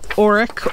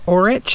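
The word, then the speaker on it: orach: And oh, I got some Auric or Orich. It's spelled O-R-A-C-H, and I've heard it pronounced both ways.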